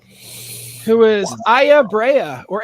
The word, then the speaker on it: Aya: Who is Aya Brea, or Aya, if you want to pronounce it that way, from Parasite Eve.